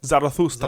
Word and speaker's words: Zarathustra: Thus, Zoroastrastra, anyone want to repronounce that? Zarathustra.